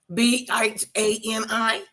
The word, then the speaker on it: Bahni: I'd never seen spelled like that, and I love it. Well, actually, you all have it spelled incorrectly. Bhani.